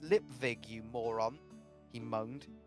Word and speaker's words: Lipwig: up we get Mr lipwig it's pronounced lip Vig you he moaned a v not a w r v get Mr